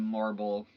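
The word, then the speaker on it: Morrible: Madam Marble, it rhymes with horrible.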